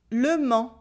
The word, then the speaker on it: Le Mans: is not le Mans, which is the city with the silent S at the end. Can you pronounce them? La main, le Mans.